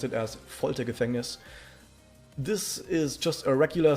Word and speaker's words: Foltergefängnis: You pronounce it as Foltergefängnis.